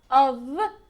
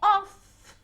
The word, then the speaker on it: of: To have a cup of tea. Now remember this. Of as a preposition, como preposición, it's of. Okay, like O-V. Of. Okay, if you say off, what word is that?